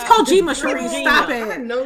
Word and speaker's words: Kojima: In light of old boys, Kajamis, whatever. It's Kojima, Cherise.